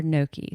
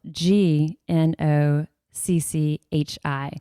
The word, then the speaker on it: gnocchi: it yet, it's spelled g n o c c h i. So, if you're looking for it, that'll kind of help you know what to look for. Gnocchi, it's got the silent G, so it's g